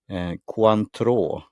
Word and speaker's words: Cointreau: Cointreau, if you spell it coin tre, three in Swedish, and AU in Swedish, like gold number.